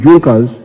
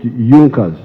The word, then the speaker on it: Junkers: It is written Junkers, but they pronounce it Junkers, that saw the importance of a united German market.